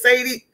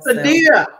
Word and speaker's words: Saadie: Let me tell you, Miss Sadie, how do you say it? Sadia? Sadia.